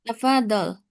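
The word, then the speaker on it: تفضل: Nam tafadol. Hadihi ustaz. Hadihi. Hadihi. Arikah. Nah, ee pengucapan tafadol kurang ditekan ya. Tafadol. Tafadolad tafadol ya. Itu zatnya kan tasdid. Fadol.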